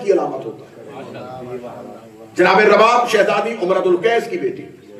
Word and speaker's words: رباب: اس کا تلفظ اردو زبان میں اکثر رباب کہا جاتا ہے. پیش کے اعتبار سے اسے نہیں پڑھیں گے, پیش کے ساتھ پڑھیں گے تو غلط ہو جائے گا. رباب پیش کے ساتھ پڑھے تو ساز کو کہتے ہیں, اگر زبر کے ساتھ پڑھیں گے تو تلفظ ٹھیک ہے.